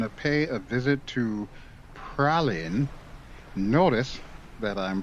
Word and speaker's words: Praslin: i was calling it praslin i've always been calling it praslin turns out it's actually pronounced pralin the s is silent so there you go